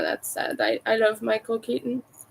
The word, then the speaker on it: Keaton: I love Michael Keaton. I just can't pronounce Keaton properly without making it sound like kitten.